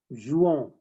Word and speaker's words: jouons: Nous jouons. Nous jouons. Yeah. Remember, whenever you have ON, it becomes like on sound. So that's why we are saying nous jouons and not nous jouons.